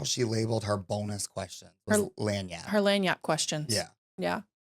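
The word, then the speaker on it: lagniappe: pronouncing that wrong okay and my word is lanap oh so lanap is spelled l a g n i a p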